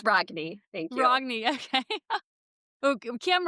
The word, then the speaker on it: Rogne: Well, the correct pronunciation is Ragny. So, if we wanted butcher that we could do Renee, let's be fancy, but no, it's Ragny.